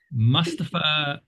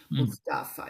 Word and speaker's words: Mustafa: Mustapa Kimal. Sorry about pronunciation. wise soul indeed, Mr. Mustapa. Yes, Mustafa. Yes.